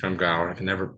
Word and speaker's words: Scrimgeour: I can never pronounce Scrimgeour? it. Scrimgeour.